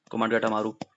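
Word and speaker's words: Komagata Maru: Who hired कोमाट गाटू था ना spelling, तो इसका के ओ, कोमाट गाटा, गाटू था, गाटा गाटा मारू केस, कोमाट गाटा मारू।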